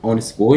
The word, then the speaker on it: honest: تمام، فنقول honest boy يعني شخص ولد امين، فنقول the honest boy. ليه برضو؟ عشان ال H مش منطوقه، فاول حرف هو ال O في النطق فعليا، فبنقول the honest boy